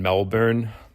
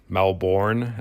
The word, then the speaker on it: Melbourne: in australia living in melbourne melbourne as the americans say and [ __